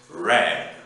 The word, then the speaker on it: read: there's a difference because in the infinitive you say to read but the past tense and past participle you pronounce red and the last verb